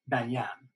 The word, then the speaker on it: banyan: he's wearing as a banyan or perhaps more properly pronounced banyan the accent being on the second syllable um this is a